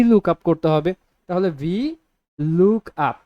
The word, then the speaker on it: VLOOKUP: করবো ঠিক আছে যেটা অনেকে উচ্চারণ করে বা লুকআপ লুকআপ যার যেটা মন চায় তো আপনারা যেহেতু এখন শিখছেন বিগিনার হিসেবে আছেন তো আপনারা চেষ্টা করবেন সবসময় সঠিক উচ্চারণটা করতে যেটা হচ্ছে ভি লুক আপ লুক আপ লুকআপ কার